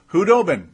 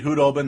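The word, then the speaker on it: Khudobin: Hudobin. It is officially Hudobin. The K is silent.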